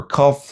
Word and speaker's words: cough: And fate two, it turned into These are your cough, laugh, rough, enough.